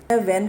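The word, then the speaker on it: whan: it side by side विन modern English let's start वन ट April with his shower suit वेन को डब्लू एच ए एन के साथ लिखा गया है बट हम इसे वेन ही पढ़ेंगे और शॉवर्स के स्पेलिंग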